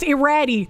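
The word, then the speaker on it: Iraty: Sheep cheese is usually not It is pronounced irratti.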